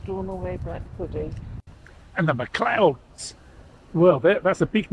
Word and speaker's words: MacLeods: So the sons of the Luds, that's the MacLeods, as we're pronouncing it now.